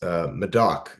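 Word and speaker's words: Médoc: You mentioned the house that you guys have had for a number of years in France, Medoc, if I'm not mistaken. Is that how you pronounce it? Yeah, that's correct.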